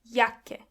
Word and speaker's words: Jacke: And this is where you can see that the letter J is pronounced as Y. Jacke When you see a C and K together, they are pronounced as K. Jacke The next word is